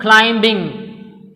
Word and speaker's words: climbing: And what about the third one, climbing? Climbing. Here B is also silent.